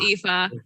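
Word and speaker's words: Aoife: other child uh well uh it's it's pronounced ifa oh yeah i o e f e yeah very good celtic name nice we've had a friend who played an ifa once it's a great name it's pronounced eva that's that's a traditional irish name right yeah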